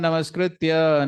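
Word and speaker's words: नमस्कृत्य: Many speakers say Narayanam Namaskrityam. It sounds poetic and it rhymes with Narayanam. So, but please note, it is Narayanam Namaskritya. There's no ma there.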